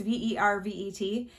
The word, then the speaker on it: Vervet: And they are the Vervet, I believe is how you pronounce it, brand. It's Vervet. And so I was in there today and I saw these, which are actually a different brand.